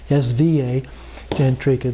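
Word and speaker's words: Svatantrika: it's so tan trica the r is at a different place it's actually spa sva tantrica the second one but in tibetan they pronounced that as so and then prasangika the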